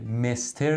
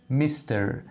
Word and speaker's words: Mister: نقطه و یادتون باشه مستر نیست یه کمی صدای ای داره میستر حالا برای خانم‌ها فرق